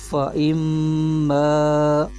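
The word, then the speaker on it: فإما: دو زبر عن، جمیعن، فا زبر فا، حمزہ، میم زیر ام، فَإِم، میم الف زبر ما، فَإِمَّا۔ اب یہاں پر دو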